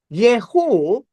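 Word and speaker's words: Jehu: Yehu is, this is Yehu speaking, or spelled with a J.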